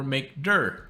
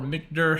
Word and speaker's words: mkdir: and do mkdir this is make directory or M dur or MC however you want to pronounce it and then we'll just say new